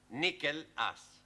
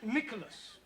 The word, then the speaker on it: Nicholas: upon a times there was a man called nickel ass that's not quite right no no once upon a time there was a woman called nickel as it's pronounced Nicholas all right once upon a time there was